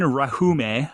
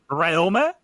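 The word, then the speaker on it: Rhéaume: Rahume? They got peanut butter on the roof. Pronounce barely any of the letters, and you'll get it.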